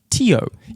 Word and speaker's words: Teo: I'd love to pronounce it accurately. Teo.